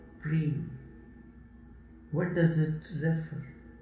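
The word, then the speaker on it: प्रेम: The first syllable is pa. And the last syllable is ma. And in between, there is a half vowel sound of R and A, prem.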